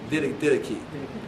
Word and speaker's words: Didache: And there's this writing called the Didache, or I said it wrong. Didache.